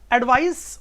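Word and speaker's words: advice: तो आपको इसकी पहले प्रोनाउंसिएशन की बात करूं, ये सीई आ रहा है तो इसका जो प्रोनाउंसिएशन है वो स का प्रोनाउंसिएशन है एस का, एडवाइस।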